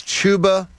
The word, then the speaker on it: Chuba: cream you know like chuba chubba hubba chuba was chubba it's chuba hubard going chba you positive chuba c h uba it's not Double B there's only one there's only one B this is Philadelphia like